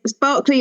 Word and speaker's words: Barclay: Yes, it is Barclay like the bank.